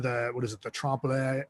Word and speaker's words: trompe-l'oeil: The trompe-l'oeil.